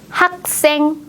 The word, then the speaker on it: 학생: 볼까요 선생님 선생 님 학생 학생 우리가 공부했던 발음 규칙을 잘 생각하면서 된 소리로 읽어 주세요 학생입니다 그럼 학생 중에서도